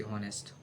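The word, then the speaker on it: honest: ए एन ऑनेस्ट एच ओ एन एस टी ऑनेस्ट ऑनेस्ट ऑनेस्ट ऑनेस्ट होता है वो ऑनेस्ट नहीं तो यहां एच जो है साइलेंट रहेगा तो ये ऑनेस्ट तो ऑनेस्ट में हम क्या लगाएंगे?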